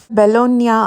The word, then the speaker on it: Bologna: பெலோனியா அப்படின்னு தான் சொல்லணும். எப்போவுமே லாட்டினில் GNA அப்படின்னு ஒரு வேர்டு முடிஞ்சிச்சுன்னா அதை NYA அந்த மாதிரி ப்ரொனவுன்ஸ் பண்ணணும்.